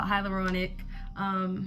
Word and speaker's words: hyaluronic: L'Orange it hilar on I keep pronouncing this word wrong but it's called hyaluronic moisturizer mask in because because